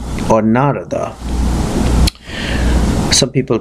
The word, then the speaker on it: Narada: I asked these questions to the great rishi narada or narada some people pronounce it Narada some people pronounce hoon has